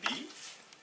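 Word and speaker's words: بِ: Avec la kasra, B plus I, ça fait Bi.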